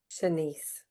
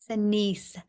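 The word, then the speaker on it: Shanse: Senise. Senise.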